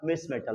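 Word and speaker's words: Mischmetal: मिस मेटल बनाता है यहां CH बेटा साइलेंट होता है इसलिए मिस मेटल ही लिखते हैं यहां पर। सुनो CH साइलेंट होता है इसलिए केवल मिस मेटल ही लिखते हैं इसको।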